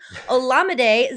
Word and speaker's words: Olamide: Now, Olamide, because I just figured out how to say his name, Olamide Zacchaeus.